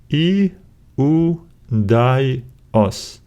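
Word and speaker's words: Ἰουδαῖος: We have I, U, Dai, Os. And we need to stress this syllable because it has an accent right here. Iudaios, iudaios.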